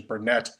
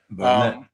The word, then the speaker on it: Bernet: And uh Jordi Bernet And by the way, I I had pronounced it Bernay for a long time, but it it's uh correct pronunciation is Bernet. Bernet.